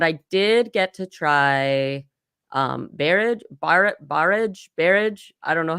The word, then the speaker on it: Barrage: But I did get to try barrage. I don't know how you pronounce. Barrage.